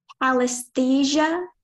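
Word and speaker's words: pallesthesia: Can you please repeat the pronunciation? Palesthesia.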